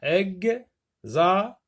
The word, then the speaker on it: examen: L'examen, X se prononce Gz.